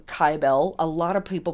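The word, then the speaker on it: Kybele: old gal named Syble or kyel um I pronounce her name kyel a lot of people pronounce her named cibil they spell it with a c i spell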